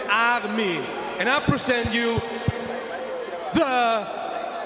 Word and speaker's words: Armin: That's wrong pronounced. My name is Armin. It's German, Armin.